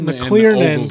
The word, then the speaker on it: McClernand: the Tennessee River, and I can never say his name. McClernand, because I want to say McClellan, but McClernand.